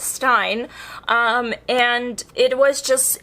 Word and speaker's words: Stein: stein in this script i don't know why i keep pronouncing stein i know it is correct but still it's stein um and it was